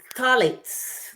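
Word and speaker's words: phthalates: now guys there is another one called thets thets that's how it's pronounced do you know what thets are I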